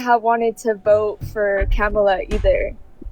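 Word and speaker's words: Kamala: Um, but if I were to have voted, like I wouldn't have wanted to vote for Camela either. Kamla would be how you pronounce her name.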